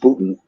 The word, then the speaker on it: Boonton: It's spelled Boonton, but it's pronounced Boonton.